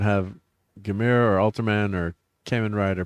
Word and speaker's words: Kamen Rider: Um Without Godzilla, we wouldn't have Gamera or Ultraman or Kamen Rider, pronounced Common Rider, or Super Sentai or the Metal Heroes of Project Red.